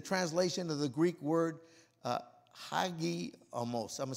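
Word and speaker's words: hagiasmos: To summarize, sanctification is a translation of the Greek word hagiomos. I'm going to spell it H-A-G-I-A-S-M-O-S.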